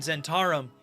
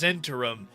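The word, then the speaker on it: Zhentarim: just now you went, I think you mean Zenturum. Hey, we're researchers. Go listen to Ed Greenwood, the guy who came up with them, say it. He says Zentum. That's how it's pronounced.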